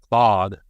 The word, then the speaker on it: Claude: Claude, like the name.